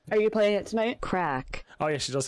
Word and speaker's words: craic: And I'm like, wait, it's crack. How does she say it actually? Translate. She says crack. Or does she?